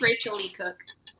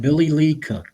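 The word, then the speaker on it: Rachael Leigh Cook: It's Rachel Lee Cook. Yeah, That is correct. Billy Lee Cook. Billy Lee Cook. I think it's pronounced Rachel Lee Cook.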